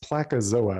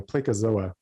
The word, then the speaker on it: Placozoa: to public definitions something called i think it's pronounced placazoa or something a placozoa and it's only a couple thousand cells he's